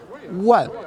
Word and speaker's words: 万: Pronounced like a 万 in Chinese, 万字符.